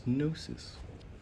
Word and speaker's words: gnosis: So the correct pronunciation is nosis is related to nosco which is the ancient Greek word for to know. Specifically, nosis means seeking to know, inquiry, methods of knowing, investigation, and even acquaintance with someone.